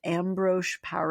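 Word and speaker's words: Ambroise Paré: It was called ambro par.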